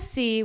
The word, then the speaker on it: Seay: c okay so martez his last name it's pronounced c but it's spelled s-e-a-y just so you guys